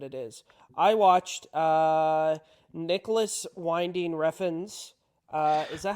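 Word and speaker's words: Nicolas Winding Refn: I know what it is I watched uh Nicholas winding rein uh is that how you say his name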